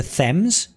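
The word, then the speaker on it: Thames: So Steve, the the temps in Connecticut, Connecticut is pronounced the thems.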